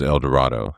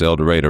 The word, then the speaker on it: El Dorado: I was like, so where is El Dorado? And they said, no, it's El Dorado, rhymes with tornado.